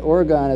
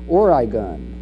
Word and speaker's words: Oregon: his rhetorical assertions and he says that orgon is pronounced origon I guess I never